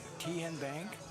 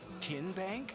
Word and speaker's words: Tenbank: How do you say the name Ten Bank? Nope. Tin Bank. Uh-uh. So, what is it? Tenbank. 10 as in Tennessee.